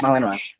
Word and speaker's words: Malinois: did meet my neighbor's dogs, and they are Malinois. mhm. Am I saying it right? Yeah, Malinois? Yeah. Malinois.